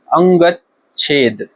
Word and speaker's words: अंगच्छेद: अंग अंगचारी अंगच्छेद अंगच्छेद इसका शुद्ध उच्चारण होगा अंगच्छेद अंगज अंगड़ खंगड़ अंगड़ाई